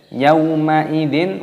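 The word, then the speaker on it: يومئذ: Yauma idzin, wawu sukun dibaca yau.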